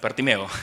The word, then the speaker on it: Bartimeo: I don't know how you say it in Spanish. Bartimeo. Okay. Y típicamente uso una historia como el ciego del ciego Bartimeo.